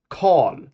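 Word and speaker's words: kal: Call.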